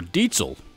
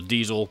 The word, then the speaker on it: Diezel: Number two, Diezel Herbert, or Dietzel, as Henning Pauly likes to remind us of how that brand name is actually pronounced in German, as this is a German company. However, over here in the States, most of us pronounce it as Diesel because it's spelled the same way as a diesel engine, with the exception of a Z in place of the S.